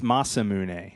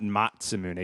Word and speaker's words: Masamune: our commenters did mention the pronunciation of this is it's Masamune but not matzah moody but he also pointed